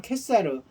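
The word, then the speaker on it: Caesar: 그런 거였는데 이제 그 시저, 캐사 이런 이제 시저 다른 발음은 캐사르 하다 보니까 이게 가이사 이렇게 돼가지고 가이사라는 명칭이 한 사람의 인물에서 시작돼서 이제는 모든 황제를 가이사라고 부르게 된 거예요.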